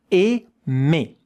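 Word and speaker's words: aimer: The first two letters are in French the sound e. Ame. And here at the end you see e r. It is exactly the same sound. So in the middle you have the m and at both sides you have the same sound. Let's check out the phonetic writing. Ei with two syllables.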